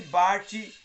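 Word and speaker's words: Barth: torna uma das frases mais conhecidas de Bart pronuncia e Barte é desenvolvem em sua advertência tá é devemos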